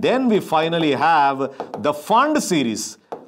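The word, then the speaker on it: Pfund: we finally have the fund series the fund Series where the p is silent you must understand so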